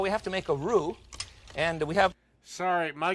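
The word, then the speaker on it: roux: Cooks just a minute we make a basic Rue it's spelled rux in Dallas they call it a rux I'm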